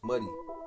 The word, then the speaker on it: Mady: Her name is Ibora, but we all call her Mady, pronounced Muddy, short for Mother Dear.